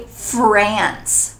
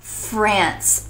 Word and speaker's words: France: talking in English so make sure that you pronounce it the English way I know maybe it's not quite as beautiful as in French false but in English we need to say France France I'm from France I